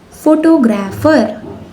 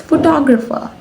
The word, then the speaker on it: photographer: The word number 2 is photographer. No, it's photographer.